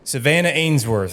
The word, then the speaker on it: Savanna Ainsworth: Savanna Ainsworth, is that how you pronounce it?